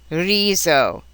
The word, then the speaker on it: riso: R, and V, the S sounds like an English Z. Some examples: Pisa, riso, sbaglio, sdegno, smettere, snello.